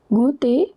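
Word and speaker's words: goût: Au t at the end is silent.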